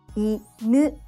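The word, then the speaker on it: 犬: Inu, dog. Inu, inu, low and high.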